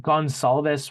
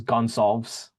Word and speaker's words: Gonçalves: I think Gonçalves works. The Portuguese is Gonçalves.